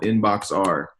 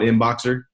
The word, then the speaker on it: Inboxer: in a keyword called inbox R. And the reason why I say it like that is because that's how I remember to spell it, but it's actually called Inboxer.